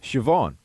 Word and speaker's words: Siobhan: not that far off Siobhan Oh Shiva okay I'm getting this now si si o is an is an SH sound right this way so